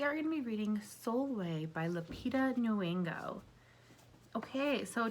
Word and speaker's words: Sulwe: it might be in so soulway sulway is spelled like s-u-l-w-e it is in the